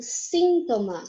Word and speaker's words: síntoma: A gente fala mais forte em português, no caso de sintoma, a segunda sílaba, o to. Já em espanhol, é um síntoma. A gente faz mais força na primeira, certo?